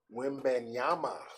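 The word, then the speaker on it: Wembanyama: um how do you say his name Victor way banyama wimban Yama okay women Yama Victor's 18 years old seven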